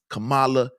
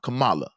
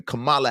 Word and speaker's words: Kamala: this election all right the Democratic nominee Mrs Camala Harris no excuse me yeah c Kamala I think it's Kam Kamala let me let me pronunciate it correctly Kamala Harris all right she was a great representation